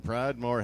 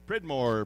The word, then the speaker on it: Pridmore: Now we got some Pridemore heers coming in. Should be Pridmore. Pridmore. Sorry about that.